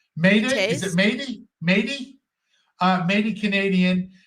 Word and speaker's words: Métis: It's Métis.